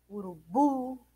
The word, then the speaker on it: urubu: Urubu é o bu.